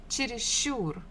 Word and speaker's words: чересчур: Next one, number 3, чересчур, чересчур. Here the stress falls on the final syllable, ур, чересчур.